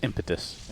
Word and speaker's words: Impetus: How do you say it? It's impetus.